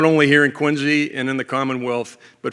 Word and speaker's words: Quincy: It's great to be here in Quincy. That is, by the way, spelled with a Z, Q-U-I-N-Z-Y, if you're ever asked about that.